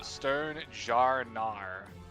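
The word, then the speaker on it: Stonjourner: Sternjourner is pronounced Sternjarnar.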